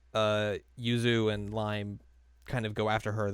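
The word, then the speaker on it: Raimu: Yuzaki and Rhyu, who they just call Lime, even though her name is spelled R A I M U.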